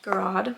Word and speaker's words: Garrod: I always say her name wrong. Garrod.